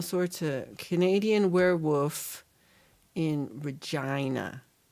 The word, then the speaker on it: Regina: We're getting Gary all sorts of Canadian werewolf in Regina. Rhymes with vagina.